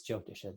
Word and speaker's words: Jyotish: The main point I want to make is that, Jyotisha, or Jyotish as it's pronounced in Hindi, is predicated, one of